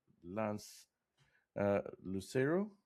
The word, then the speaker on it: Lance Lucero: Today we have with us Lance Lucero. Am I pronouncing that correctly, Lance?